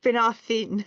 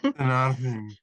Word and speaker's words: Finarfin: It should be Finarfin. Finarfin.